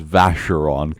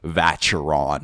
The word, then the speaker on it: Vacheron: He can't pronounce Porsche correct, but he pronounces pronounces Vacheron correct instead of Vacheron or something like Vacheron.